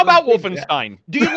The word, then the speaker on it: Wolfenstein: You're as close as I've ever heard any American pronounce it properly, because most Americans pronounce Wolfenstein actually something like Wolfenstein or Wolfenstein. Yeah, Wolfenstein is one I hear a lot. Yeah. It's Wolfenstein.